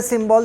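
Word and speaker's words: cymbal: Though the spelling start with C, it is also symbol, because usually we write the symbol spelling SY, but the spelling here starts from CY. It's the same pronunciation is there.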